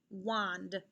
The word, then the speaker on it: wand: echo these words and listen for a vowel sound that they all have in common okay wasp watch wand wasp watch wand what vowel sound do you hear in these words very good i hear ah sound like a short o sound let's look at these